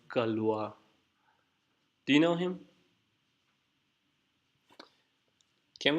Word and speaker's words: Galois: even maybe I'm writing it I think it's pronounced Galois do you know him can we read actually